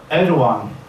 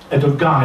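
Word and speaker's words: Erdoğan: when when I hear Edan um I learned in Turkey for the first time some time ago it's not Ed gun it's the one it's soft G with two dots when Edan said I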